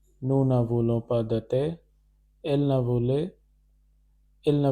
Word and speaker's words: thé: This is pronounced as thé, which means we don't want tea.